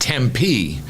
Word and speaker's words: Tempe: right there City of Tempe uh apparently it's pronounced Tempe uh Arizona uh has been uh has been